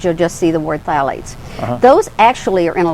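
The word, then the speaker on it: phthalates: Phalates. Now, that is spelled with a ph. So you're not don't go looking for TH.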